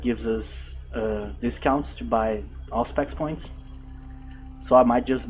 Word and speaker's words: Auspex: With Auspex, I think I was in doubt how to pronounce this word on the last video. Apparently it's Auspex.